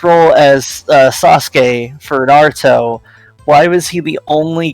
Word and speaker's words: Naruto: like no absolutely not you have to pronounce the r with the accent it's Naruto that you can't just it's not Naruto you can't you can't just come in with that English sound there's no ah there you